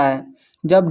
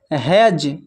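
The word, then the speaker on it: hedge: जब डी के बाद जी आए तो डी साइलेंट होता है। ध्यान में रखना। यहां पर देखिए हैज हैज में जो है डी के बाद देखिए यहां पर जी आया हुआ है तो डी साइलेंट हैज फिर है ब्रिज ब्रिज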